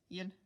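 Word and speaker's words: ils: Then the 2 versions of they, we have the masculine plural of il is il, just with a silent s at the end.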